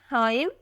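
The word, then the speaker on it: Haaim: का तोहफा next one इ हाइम स्पेलिंग है H double A आई am unique नाम है हाइम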